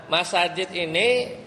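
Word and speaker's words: مساجد: Iya, tapi bacanya bi imarati masa jidi. Kenapa? Karena isim alladzi la yansharif dia itu nggak bisa ditanwin, batal kalau diidofahkan.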